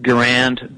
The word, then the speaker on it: Garand: Some people pronounce it Garand, but I learned that the correct pronunciation for it's Garand.